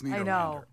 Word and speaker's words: Nederlander: It's spelled Netherlander, but it's Nederlander.